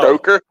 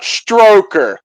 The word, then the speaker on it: Stoker: Cuz you don't know how many times I've heard people say Bram Stoker instead of Stoker. That irritates me so bad. It's like, dude, Bram Stoker, not Stroker.